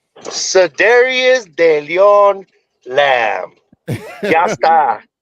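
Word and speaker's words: Cedarian: Yeah, so Dario, we gotta let Mikey pronounce his name correctly. Mikey, what's the name? Cedarius de Leon Lamb.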